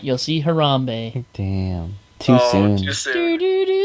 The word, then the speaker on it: Harambe: And then Harambe. people started commenting. It's like, Oh. please say it correctly. Don't disgrace his name. It's Harambe. Harambe, guys. Harambe.